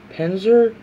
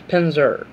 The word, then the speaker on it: Pinzer: from the number 21 I mispronounce his name as Penzer let's pronounce pinzer and it's not Spencer but much as friends for